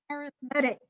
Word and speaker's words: arithmetic: And then our screwy language decides to pronounce it differently. So now it's arithmetic, even though it is the same spelling as arithmetic.